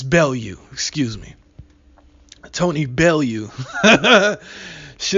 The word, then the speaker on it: Bellew: bail you I'm sorry she's not Belu I'm in America so I pronounce it Belu but it's bail you excuse me Tony bail